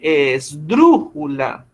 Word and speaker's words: esdrújula: Tú dices esdrújula. O sea, suena raro, pero ese es el mejor ejercicio para usted saber dónde lleva el acento. Usted no dice esdrújula. Pues yo. En Dru. En dru, No, muy profe. bien. Ajá. Usted dice esdrújula. ¿Cierto? Digamos que el acento grande o el acento mayor la tiene en esa sílaba.